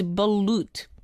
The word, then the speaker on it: balut: And myself from the Philippines also saying balut. Hello again, DJ Stephanie. Yes, you said it right. Yeah, I said it right. So it's like balloon, just replace the N with T. So it's balut.